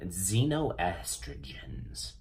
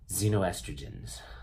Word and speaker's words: xenoestrogens: gonna be talking about xenoestrogens xenoestrogens that's right it's kind of fun to say Zeno and it's actually spelled with an X if you type up